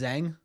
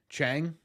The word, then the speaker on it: Chang: Is your last name pronounced Zang? Is that right, Zang? Scoring good runs in the second game of double letters. Yeah, true. Actually, Chang. Ah, sorry. Not the sound of Z.